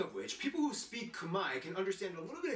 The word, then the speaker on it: Khmer: to the cambodian ethnicity the technically correct term to refer to the cambodian ethnicity would be kumai yeah that's right all this time you thought it was khmer right no it's kamai the r is silent and the e is an i the cambodian language is